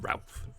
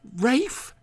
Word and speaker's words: Ralph: Uma Thurman and um it's Rafe fines go and stop him it's Ralph it's just Rafe really it's spelled Ralph everybody else would call